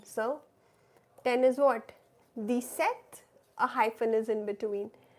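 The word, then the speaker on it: sept: Set. P is silent.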